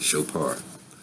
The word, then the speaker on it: Chopin: And my father had to actually get me to pronounce his name correctly, Chopin.